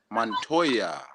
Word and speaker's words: Montoya: It's pronounced like Toya. Okay. Oh, Montoya Leva.